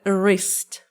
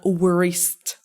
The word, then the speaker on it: wrist: Okay, it's a wrist, not wrist. Wrist. Wrist. W is silent here.